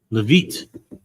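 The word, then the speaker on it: Leavitt: Uh, Levette, is that how you pronounce it? Levit.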